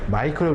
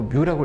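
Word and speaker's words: μ: 그럼 이 투자율을 우리가 문자를 우리가 마이크로 읽으시면 안 되고 뮤라고 읽으시면 된다는 얘기 했었죠.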